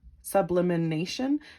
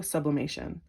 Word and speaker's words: sublimation: bit deeper vanishing mirror ego sublimation sublimination sub bluemation guys i am so sorry i mispronounced that word ego sublimation here we go communication